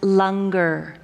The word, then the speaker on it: langar: be fed with the Lunger and for all of you it's spelled langar but it's pronounced longer so after the service